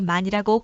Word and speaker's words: 많이: 히읗 순 발음 형님 먼저 은과 함께 무한 하며 약하게 빨리 연이여 정확하게 많이라고 발음하며 읽으면서 많이라고 씁니다 예를 들어